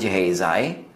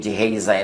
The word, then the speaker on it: Gehazi: assistant na si Gehazi, sa mga pangalan na Hebrew, pangalan na Jewish, pagka gusto niyong magkaroon ng mas tamang pronunciation, mas tama yung Tagalog pronunciation or yung Filipino pronunciation kaysa sa English style pronunciation. So yung Gehazi na yun sa English, pag sinabi mong Gehazi, mas malapit yan sa original Hebrew translation or pronunciation.